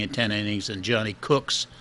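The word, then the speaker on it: Kucks: one of nothing in ten innings and Johnny cooks spelled K uck as cooks but pronounced cooks so where was tingle he had the best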